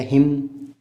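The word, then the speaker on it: hymn: या हिम, तो इसे हिम्न नहीं कह सकते, तो एन का साउंड नहीं आना चाहिए।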